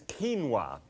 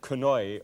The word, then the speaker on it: quinoa: Right, now, what I'm going to deal with is quinoa, and Quinoa, and you might have pronounced that quinoi or something like that. I used to.